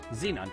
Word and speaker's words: xenon: I need is a xon container xon container I always say it wrong Xenon container and the mass of